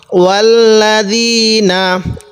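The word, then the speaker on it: وَالَّذِينَ: নুন জবর না ওয়াল্লাযীনা ওয়াল্লাযীনা। অনেকে আমরা এই জালটাকে জিম পড়ে ফেলি, শক্ত করে পড়ে ফেলি। আমরা এই জালটি উচ্চারণের সময় একটু নরম করে উচ্চারণ করব।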